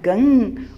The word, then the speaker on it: गं: ओम गंग गणपतय नमः अर्थात गण के प्रथम शब्दांश ग का उच्चारण करने के बाद वर्णों के आदि अर्थात अ उच्चारण करें। उसके बाद अनुस्वार अर्थात म का उच्चारण करें। इसके बाद इसे अर्धचंद्र से सुशोभित करें। इस प्रकार गंग ओमकार से अवरुद्ध होने पर आपके बीज मंत्र का स्वरूप ओम गंग बनता है।